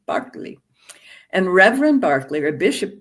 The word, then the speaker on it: Berkeley: in England, an Anglican bishop whose name is pronounced George Barkley, if you're British, not Berkeley, Barkley.